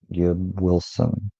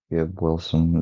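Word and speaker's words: Gibb-Wilson: It's technically, if pronounced the scientifically correct way, like Gibb Wilson. Gibb Wilson, just like one right with the other, real close. Just quick space in between the hyphen.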